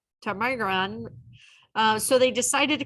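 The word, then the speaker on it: ptarmigan: Megan a local chicken-like bird whose name is pronounced tamiga tamigran so they decided to call it chicken because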